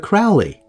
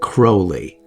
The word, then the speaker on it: Crowley: I know, some people pronounce it Crowley. I'm not saying Crowley. Crowley. Crowley's better. Crowley? Crowley sounds like I don't know what the hell I'm talking about. I know it might be Crowley. He may have pronounced it Crowley. Supposedly there are recordings of him pronouncing it as Crowley.